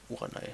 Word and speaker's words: Uranai: Uranai, spricht man so aus.